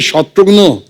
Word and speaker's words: शत्रुघ्न: मिसाल के तौर पे मेरे बंगाली फ्रेंड अभी तो मुझे कहते हैं कि रे शत्रुघ्नो केमन आशीष।